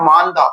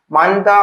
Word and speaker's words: மோந்தா: சக்தின்னு வருது சக்திக்கு அடுத்தபடியாக மாந்தா அடுத்த இந்த புயலுக்கு வந்த பிறகு இதுக்கு பிறகு வர்றது மாந்தா புயல்ன்னு சொல்லலாம் மந்தா அப்படின்னு சொல்லலாம் மந்தா தமிழ்ல வந்து உச்சரிப்பு வந்து மந்தா இல்ல மோந்தா அப்படின்ற மாதிரி சொல்லுவாங்க அடுத்த புயலுக்கு பேரு இப்ப வரக்கூடிய